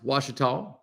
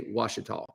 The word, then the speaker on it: Ouachita: They are pronounced Ouachita by the locals there, and you should pronounce an area, a place, the way the locals pronounce it. And there in Arkansas, they say Ouachita.